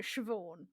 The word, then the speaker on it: Siobhan: And I went, no, you actually pronounce that Siobhan.